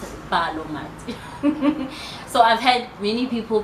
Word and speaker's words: BaloMatu: Okay, so BaloMatu, how we pronounce it, BaloMatu.